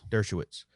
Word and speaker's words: Dershowitz: Dershowitz.